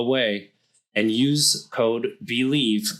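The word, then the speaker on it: OUAI: a i dot com pronounce the way and use code believe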